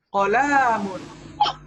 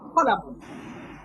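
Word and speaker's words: قلم: Kesalahan biasanya orang mengatakan qalamun. Ini panjang. Nah, ini salah. Yang betul adalah dibacanya pendek semua. Qalamun. Kan kita baca qalamun. Kan kita baca qalamun. Tapi bagaimana kita baca? Kita bacanya qalamun, yaitu dengan pendek semuanya.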